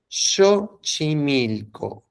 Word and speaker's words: Xochimilco: Nosotros bien pronunciados sabemos que la X se pronuncia como SH, Xochimilco, ¿ok?